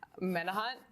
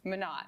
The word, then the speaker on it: Minot: Menahut. I always say it incorrectly. That's how I've been informed it's pronounced. Minot.